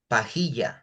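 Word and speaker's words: pajilla: We semen straw we call it pajya. Pia. Yeah. How do you spell it?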